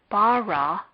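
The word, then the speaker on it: בָּרָא: This word does not have any particular marks, so the last syllable of bara would be stressed.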